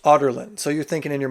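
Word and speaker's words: Adarlan: which is the capital of this place called otland that's how it's pronounced otland so you're thinking in your mind oh it's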